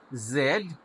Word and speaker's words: zoo: ইহুদি চিড়িয়াখানা হয় না মূলত সাউন্ডটা হলো সফট জেড জু জু আরবি জাল